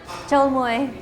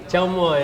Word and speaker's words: Chôl muŏy: Chau moi. Chau moi. Chau moi.